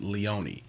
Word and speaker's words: Leone: And the main characters, their last names are spelled the same, but it's pronounced Leone.